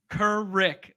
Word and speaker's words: Kuruc: with a c John kurick kurick like the last is like Rick like Rick and Morty um I had to